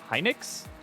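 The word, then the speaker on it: Hynix: The entire market is just Samsung and SK Heinix. Hinix. Is that how I pronounce that? I question it because I like want to pronounce things certain ways. Yes. Heinix.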